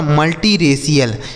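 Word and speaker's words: multiracial: और सी आई एल का उच्चारण क्या हो जाएगा? सी एल। यह लिखा गया आपका मल्टीरेशियल।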